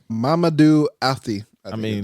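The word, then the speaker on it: Mamadou Athie: Mamadou Afti. I mean, his name, that's how you pronounce his name.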